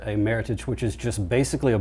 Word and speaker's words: Meritage: It's not pronounced Meritage, in spite of that's what most people call it. A Meritage, which is just basically a Bordeaux blend.